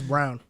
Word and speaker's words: Brown: me about Christian wrong silly rabbit it's brown oh sorry Brown yeah Kirsten Brown I thought it was bronze too yeah it would spell that way Brown is my it's b-r-o-w-n is the color someone said I feel